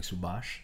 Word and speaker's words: Subhas: But it's also like the last syllable of my name, like Subhas. Bash.